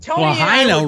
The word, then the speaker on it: Lahaina: Lahaina rhymes with vagina.